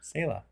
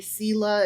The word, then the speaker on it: Selah: Apparently, Selah is Selah.